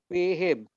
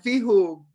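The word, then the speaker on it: فيهم: Ini bacanya Fihim. fihim, bukan fihum. Karena sebelumnya ada ya Sukun.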